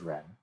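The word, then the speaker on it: 人: So since this is the radical form of this character, they both have the same pinyin pronunciation, which is Ren.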